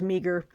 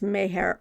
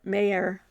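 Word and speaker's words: Meagher: immortal Irishman that's Thomas I thought it was meager it's Mayer mayor mayor that's what Martine said and I think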